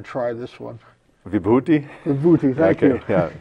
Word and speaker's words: Vibhuti: I'm waiting for you to pronounce it, because I wasn't even going to try this one. Vibhuti? Vibhuti, thank you.